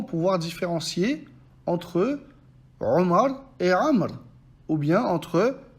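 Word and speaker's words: عمرو: Ils ont rajouté un Waw pour le différencier de Omar, pourtant ce Waw ne se prononce pas.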